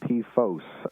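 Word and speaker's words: PFOS: perfluoro-octanoic acid uh and p-fos uh p f o s i try to pronounce that to distinguish it from p fast uh that's uh perfluoro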